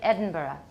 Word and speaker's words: Edinburgh: You'll add a schwa at the end. Everybody, Edinburgh.